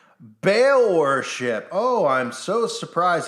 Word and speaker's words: Baal: little child it's spelled b-a-a-l as in bail worship oh I'm so